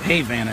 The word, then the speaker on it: Havana: there was a town called Havana Florida they pronounce it Havana here but this town is where the uh